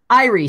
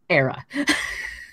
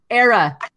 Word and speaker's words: Era: Because we've all been calling it Irie Stout. Apparently, it's Era.